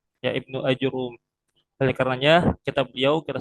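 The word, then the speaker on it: ابن آجروم: Namun sejatinya yang sesuai ya dengan ee kitab-kitab tarikh kalau kita baca biografi beliau. Maka penulisan yang benar itu adalah Ibnu Ajurrum. Ya, Ibnu Ajurum.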